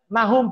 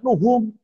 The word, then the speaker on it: Nahum: Jadi kok bisa bacanya Nahum Pak? Kenapa nggak Nuhum? Kenapa nggak Nuhun? Nuhun ya orang Sunda gitu ya. Kenapa ngomongnya kok Nahum gitu ya? Ya mereka punya tanda baca sendiri gitu.